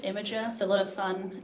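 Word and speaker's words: Imgur: three years some people think it's called like I'm Girl M gir but it's pronounced imager so a lot of fun anecdotes from working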